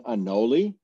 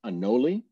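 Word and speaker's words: anole: is it green a uh is it green anoli uh how do you pronounce it I've even heard some people say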